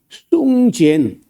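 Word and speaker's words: 宋健: 우리가 귀에 익어서 80년대 하지 벌써 40몇 년 전인데 그때 그 숭젠 중국 사람 중에 숭젠이라고 하는 우리가 한자로 쓰면 송건입니다. 송건이라고 쓰는데 중국 사람들은 숭젠이라고 읽어요.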